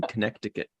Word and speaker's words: Connecticut: Marie out in Connecticut people don't pronounce the second C in Connecticut ah Maya thought um